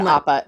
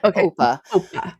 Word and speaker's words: Opa: So I'm sorry to derail for a second, but it's Oma and Opa. I don't know why I said Appa. It's Oma and Opa.